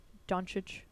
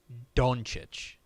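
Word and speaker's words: Dončić: don't think we have I think it is technically like donic like I think the O is such the reason I say that is if you go back to draft night Adam Silver pronoun pronounces it like donic and he is usually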